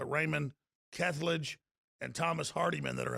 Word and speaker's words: Kethledge: And we've got others here, but I'm told that it's Raymond Kethledge and Thomas Hardiman that are in the lead from my White House sources.